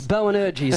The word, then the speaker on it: Boanerges: It's Boanerges, if you're from New Zealand. That means son of thunder. Boanerges?